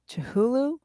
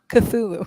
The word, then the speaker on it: Cthulhu: Chihulu? Is it Chihulu? Cthulhu.